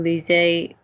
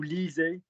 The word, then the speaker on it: lisez: Vous lisez. Don't drop the E. Vous lisez.